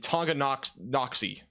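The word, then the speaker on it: Tonganoxie: approaching Lawrence and eventually going towards Reno and Tonga KN noxy that's how you pronounce that that new radar scan will be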